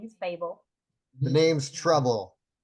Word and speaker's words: Trouble: The name's Trouble. Some people think it's pronounced TL, but it's actually just pronounced trouble.